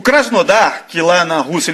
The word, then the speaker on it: Krasnodar: a seguinte informação o krasnodar que lá na rússia ele chama de krasnadar porque em russo quando o homem não é sílaba tônica da palavra tem som de a então é krasnadar para o justo é